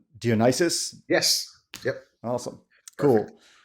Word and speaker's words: Dionysius: Today I've got if I pronounce it right, Dionysius.